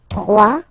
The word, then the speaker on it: bois: it's not pronounced ok du Bois final s not pronounced bois kappa kappa ok so